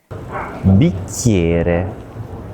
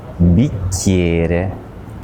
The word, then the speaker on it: bicchiere: So think about how we pronounce CH in Italian as a hard K sound, and how the letter I before another vowel often sounds like a Y.